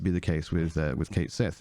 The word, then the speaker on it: Cait Sith: a kid um and they said in Final Fantasy 7 rebirth Kate Sith is pronounced as Kate Sith now I didn't know